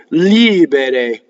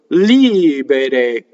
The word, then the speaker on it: libere: R's that are surrounded by vowels flip. And that's what happens in the next word. Libere. Re. That's your R. Re. In no case is it ever r, as in American English, right? So, libere. And in no case does the R ever influence a vowel.